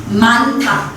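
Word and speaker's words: 많다: यसमा पनि हामी के उच्चारण गर्छौ न र ह छ यसलाई हामी मान्था ह साइलेन्ट हुने भयो नलाई मात्र उच्चारण गर्छौ मान्था भनेर यसरी उच्चारण भन्छ ह को केसमा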